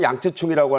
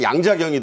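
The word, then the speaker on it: 楊紫瓊: 이 영화 양쯔충 중국말로는 양쯔충이라고 하는데 우리 팬들은 다 그냥 발음하는 양자경이 더 와닿죠.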